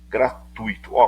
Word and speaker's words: gratuito: Gratuito, cuidado com essa palavra, não é gratuito não, é gratuito. O e o i são pronunciados juntos, tá?